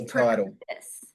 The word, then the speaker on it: Proclivitas: Um it's proclivitous.